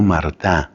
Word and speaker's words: Martin: papás de Santa Teresita de apellido Mart que se escribe Martin Luis y Celina mará